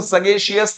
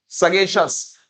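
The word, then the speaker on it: sagacious: सगेशस, देखेगा जिस भी वर्ड के पीछे CIOUS आएगा, उसका जो उच्चारण होता है वो श और स होता है। तो इसको सगेशियस नहीं बोलेंगे हम लोग, क्या बोलेंगे भाई? सगेशस। साग से याद करेंगे।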